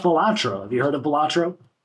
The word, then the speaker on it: Balatro: Have you heard of Balatro? Say that. How do you pronounce?